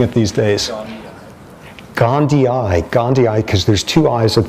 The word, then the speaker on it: gondii: And not Gandhi in the Gandhian sense, but probably because it's even pronounced differently. Okay, how are you pronouncing it these days? Gondii, because there's two I's at the end, which